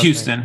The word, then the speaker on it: Houston: Is it Houston? How do you say it? It's Houston.